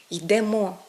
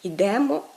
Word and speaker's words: йдемо: на останній приголосний тобто правильно казати йдемо йдете а не йдемо йдете правильно казати несемо несете